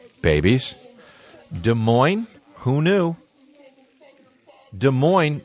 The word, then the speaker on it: Des Moines: Des Moines who knew Des Moines they have got two S's one at the end of each word and you don't pronounce either get rid of them both naturally get rid of